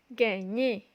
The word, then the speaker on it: gagner: Ensuite, on a gagner.